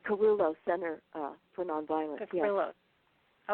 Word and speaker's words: Kerulos: It's Kerulos Center for Nonviolence.